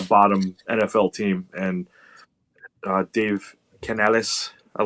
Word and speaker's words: Canales: And Dave Canales, I like when he does the real Spanish pronunciation of his voice. Canales.